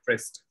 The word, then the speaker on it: tryst: us about the joke i just searched about the right pronunciation for the word and it is called trust so our first speaker